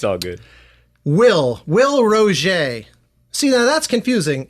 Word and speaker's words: Roget: Will Roget. See, now that's confusing. It's not Roget. It's French.